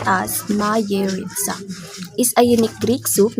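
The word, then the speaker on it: Μαγειρίτσα: Next is Mayeritsa, pronounced as Mayeritsa, is a unique Greek soup made from the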